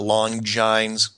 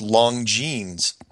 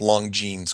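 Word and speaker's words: Longines: emails it is not long jines chronoscope it is pronounced long jeans like like like you know long denim genes long jees chronoscope I was going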